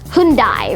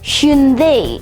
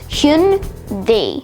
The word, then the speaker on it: Hyundai: The way that you normally pronounce it is Hyundai or Hyundai. However, the official Korean pronunciation is more like Hyundai instead. So that's Hyundai.